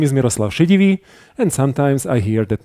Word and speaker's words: Miroslav Šedivý: My name is Miroslav Šedivý.